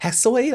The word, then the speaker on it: Hesiod: Hesiod, I believe his name is pronounced, is an 8th and 7th century BC